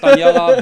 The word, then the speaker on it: Taniela: it kind of sounds so it's Taniela, but everyone just calls me.